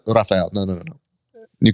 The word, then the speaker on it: Rafael: well what's your full name I was like Rafael and they're like okay Raphael and I go